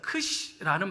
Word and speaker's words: Xi: 그러면 그 다음에 그릭이 13번째가 NU라는 단어인데, 이 단어를 스킵해버리고 거기다가 XI라는 단어가 있어요. 크시라는 발음이 나는 그리거가 있는데 이 알파벳을 건너뛰어버리고 15번째를 했어요.